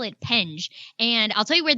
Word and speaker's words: Penge: Tell me how to pronounce the name of the app. Yeah. So, I call it penge.